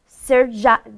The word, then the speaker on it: Srdja: Srdja, right?